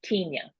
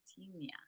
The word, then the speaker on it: Tenya: people say it two different ways can you pronounce the name for us it's Tena Tena okay Tena yes awesome thank you